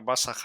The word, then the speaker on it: Basajaun: para ti a nivel más personal el término basah así se pronuncia sí bason es un personaje de la